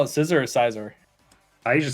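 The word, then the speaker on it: Scizor: Quagsire's gonna go down, and now we're out to Scissor. You call it Scissor or Sizor?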